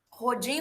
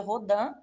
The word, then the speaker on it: Rodin: aqui para vocês do rhodan tá rodin rodando pode pronunciar como vocês quiserem normalmente de pronuncia rhodan tá essa escultura acredito